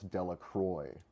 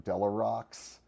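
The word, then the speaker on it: Delacroix: he played a character i would pronounce de la croix and he called him de la rocks and then nobody's none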